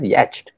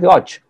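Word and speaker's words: yacht: Y-A-C-H-T is, if you pronounce it as the spelling, it is sometimes pronounced as yatched, but it is actually pronounced as yotch.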